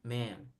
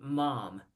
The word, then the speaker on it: ma'am: Madame but the contraction ma'am ma'am why but be careful because you don't pronounce mom mom is my Momom